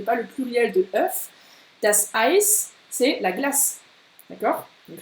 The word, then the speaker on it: Ei: Tu retiens EI, bien AI, ça se dit AI. Comme aïe, aïe, aïe, aïe, aïe.